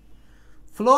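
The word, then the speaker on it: follow: আচ্ছা, ফলো বানানটা দেখেন, এটা হলো ফ্ল, ফ্ল, ফ্ল, একসাথে ফ্ল, ফ্ল। আর এটা হচ্ছে ফলো, নর্মালি ফলো, ফলো, চাপ নাই, যুক্তবর্ণ নাই।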